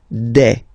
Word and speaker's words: des: Okay, and then the plural form, des. All right, here s you pronounce it like e.